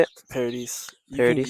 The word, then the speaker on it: Paradis: Paradis. You can Paradis. you can say like paradise, but because like it's like paradis means heaven in French.